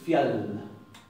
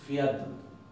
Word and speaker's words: fjall: a escribir así, pero no voy a decir fial, voy a decir fiat, fiat. Y esa D tiende a ensordecerse a veces, como si fuera una T, fiat.